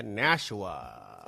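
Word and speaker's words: Nashua: Welcome to the listeners of NHPR, New Hampshire Public Radio all across the Granite State from Colbrook to Nshawa. I did have to look up that pronunciation.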